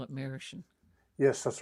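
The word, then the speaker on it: Merasheen: take it yeah marishan marashin that's if you're pronouncing it in grandly you say mirror sheen but the people who are from there call it marishan yes that's right uh last time you were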